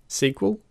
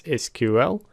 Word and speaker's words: SQL: SQL let's get started SQL which can also be pronounced as SQL stands for structured query